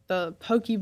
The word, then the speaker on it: poke: Oh, I like all kinds of sushi, but I usually get like any kind of specialty roll or even the poke bowls.